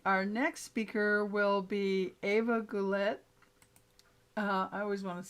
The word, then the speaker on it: Eva: Um, at any rate, our next speaker will be Ava Goulet. I always want to say Goulet because of that singer was Goulet. And it's spelled Eva, but she says Ava.